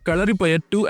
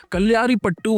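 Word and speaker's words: Kalaripayattu: Even mispronouncing Kalari Payetu as Kalyari Patu while praising the film's authenticity was proof enough.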